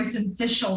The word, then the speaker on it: syncytial: I rarely do, but it's respiratory syncytial virus.